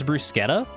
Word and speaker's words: bruschetta: So bruschetta is supposed to be pronounced with K for the ch because Italian and I hate how